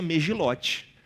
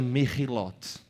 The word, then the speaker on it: Megilot: Você não pronuncia megilote, nem megilote. Por quê? Porque você tá aprendendo hebraico. Então você pronuncia merilote. É assim que você pronuncia, tá?